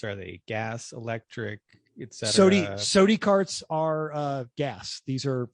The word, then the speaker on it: SODI: Is Mental got some sort of Southern pronunciation going, or is there like fair. SODI? They are SODI, wanting, got it.